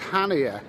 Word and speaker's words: Chania: okay so i'm actually a pronounced hania harbour in crete greece it's been a bit